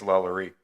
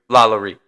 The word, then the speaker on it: LaLaurie: I think it's LaLaurie. LaLaurie.